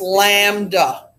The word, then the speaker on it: lambda: It's pronounced lambda.